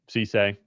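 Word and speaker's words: Cisse: Cece.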